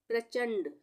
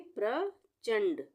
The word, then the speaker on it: प्रचंड: प्रचंड, प में र की वो जो रेफ की पदेन मात्रा होती है वो लगी हुई है यहाँ पे, यानी आधे र का उच्चारण होगा। इससे प से प्र हो जाएगा। ये प्रचंड, ये आधा अणा है। अणा होता है ना, वो आधा है यहाँ पे, तो इसको हम पढ़ेंगे प्रचंड, प्रचंड।